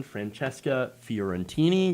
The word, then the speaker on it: Francesca Fiorentini: if you missed parts of the show again francesca fiorentini yes i said it right and by the